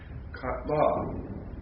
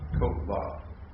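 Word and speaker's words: קָטְלָה: Note that the vowel in the first syllable is kametz ketuv and not kametz. Why? Because it's in a closed, unaccented syllable. So really, you would pronounce that what? Kotla. Be careful not to confuse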